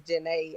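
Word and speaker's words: Zhané: with my middle name, which is Janae. I know it has a Z, but there was a girls group from when my mother was younger called Janae, and they dropped the album with the pronunciation because everybody was saying it wrong.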